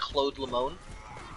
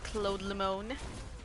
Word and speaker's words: Cloud Lemon: Cloud Lemon in chat, how you doing? Pronounced Claude Lemon. Claude Lemon.